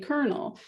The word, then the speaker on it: colonel: And if you know that, you spell it with an L, even if you're still saying colonel.